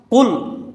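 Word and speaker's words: قل: কুল হু আল্লাহু আহাদ, কুল, এখানে কফ, এর উচ্চারণটা হলো একটু শক্ত করে কুল দিয়ে, এর অর্থ হলো ও নবী আপনি বলেন।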